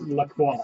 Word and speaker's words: LaCroix: Yes, in French it means the cross, and it is pronounced LaCroix.